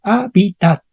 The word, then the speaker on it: hábitat: dicen Okay esa palabra la h en latín ya casi casi no se pronunciaba entonces para p 0 no vamos a pronunciar la H Entonces vamos a poner simplemente a pi Okay hábitat y dónde estaría el acento Ah correcto hábitats cuidado en español moderno decimos habita pero la tinera hábitat Ah hábitat correcto hábitat